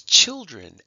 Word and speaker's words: children: how we marked it the next word is children and it does sound like an i it does sound like it's children but it's one of these words that actually is spelled with an e okay but we don't